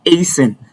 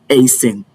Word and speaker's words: hasten: Now, the T here is silent, and that is why it is pronounced as hasten and not hasten.